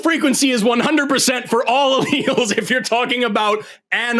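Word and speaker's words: alleles: about and you're screaming about alls it's pronounced Al first just just we'll start there they're alals and they're within an organism and then they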